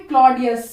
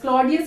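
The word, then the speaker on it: Claudius: डी गटूड इनकी mother है और ये है क्लॉडियस सी एल ए यू डी आई यू एस क्लॉडियस इनके अंकल मतलब चाचा है सभी चाचा हैं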